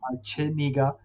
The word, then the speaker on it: Chenega: I know it's spelled a little differently, but it's Chenega for almost 10 years now.